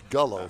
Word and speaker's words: Gullo: Ford car show at Gillow Ford in Conro. It's Gullo Ford, isn't it? Gullo Ford. what I said. You said Gillow. It's spelled like it's Gillow.